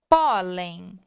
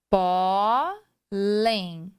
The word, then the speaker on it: pólen: vamos acentuar a sílaba tônica e não a sílaba que termina. A mesma coisa com a letra N. Então, nós temos lá pólen. Então, eu tenho aqui a divisão. Pólen.